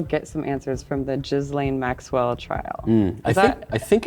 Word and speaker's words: Ghislaine: I just need to get rid of the S altogether. Ghislaine.